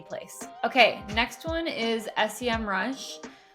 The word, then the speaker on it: Semrush: okay next one is semm rush I actually don't know if it's called semm rush or sem rush I've heard it pronounced both ways but I'm just going